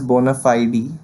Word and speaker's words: bona fide: Okay, then comes the word of the episode, bona fide, which is an adjective. Okay, we can also pronounce it as bona fide with focus on fide.